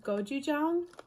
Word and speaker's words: gochujang: And they're, if you've ever heard of, I think it's pronounced gochujang.